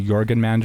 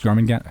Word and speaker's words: Jormungandr: I finally say it right because I used to say Jorgenmander or whatever, but it's Jormungandr.